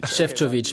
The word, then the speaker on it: Šefčovič: prononcé votre nom parfait très bien très bonne prononciation vous dites marosfov chefov chefovic bien êtes-vous prêt à répondre aux questions de